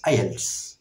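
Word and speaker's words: IELTS: টি এস আই এলস আমি এটিকে আইএলস বলছি কারণ এটি একটি অ্যাক্রোনিম যদি অনেকে ভুল করে আই ই এল টি এস বলে থাকেন সেরকম বলা যাবে না ওয়ার্ডের মত প্রোনাউন্স করে বলতে হবে যেসব এব্রিভিয়েশন কে প্রোনাউন্স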